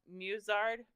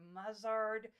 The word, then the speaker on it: musard: then is it pronounced musard? Because I really want to pronounce it like mustard without the T.